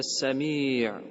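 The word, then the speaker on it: سميع: но нет формы приходит а сами ударение на последний слог и это форма преувеличения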